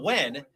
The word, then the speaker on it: when: people pronounce it but it actually has an H in it and I make a point to pronounce the h yeah that's true blow